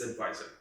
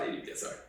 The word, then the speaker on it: ADVSR: have a full form it is advisor yeah it's not adsr you know what I'm saying like if it's like ddre we know there's a full form for that so ddre is we can say it like that it's not Dr what do you mean but with advisor there isn't a full form so it's it's it's advisor I was born out